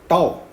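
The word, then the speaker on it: τ: Topological space में हम x, d की जगह यहां पर आपको एक लेटर दिख रहा है इस तरह से, इसको हम प्रोनाउंस करते हैं टाउ, ओके।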